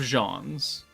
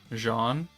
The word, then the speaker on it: Jaune: How am I supposed to correctly pronounce J A U N E Jan? Like Jawan Jennings, the football player.